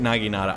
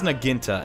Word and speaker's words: naginata: How do you say it, naginata? I think I say it like that. He says naginta, and I'm just like, what?